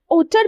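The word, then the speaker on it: hauteur: हमारा अगला वर्ड है ओटर भी बोलते हैं। हॉटर भी बोलते हैं।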